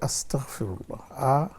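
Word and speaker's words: أستغفر الله: আসলে এটা হচ্ছে শব্দটা হচ্ছে আস্তাগফিরুল্লাহ। আসতাফিুল্লাহ আস্তাগফিরুল্লাহ। এটা হচ্ছে উচ্চারণ।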